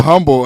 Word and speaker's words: humble: lots of lots of humble love yes Oh H is silent I get I get so mad a little humble and I'll be like